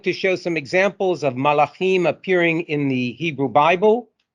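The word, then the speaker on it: מלאכים: means messenger of god in the plural it me it is pronounced as malachim as such the role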